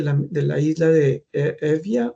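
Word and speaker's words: Eubea: Entonces él era oriuno de la de la isla de Evia o en español se pronuncia Euba y va a un monasterio de esa cerca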